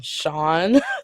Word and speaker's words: Sion: a bandage, and then his name is actually Sion, Cion, but it sounds like you're saying Sean, so that's his name. Pronunciation is Sean, but spelling is Sion.